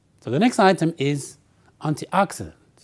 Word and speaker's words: antioxidant: anti and T ax I Dent when you pronounce it we stress the word word Ox so you say antioxidant antioxidant antioxidant right so what is an antioxidant well it's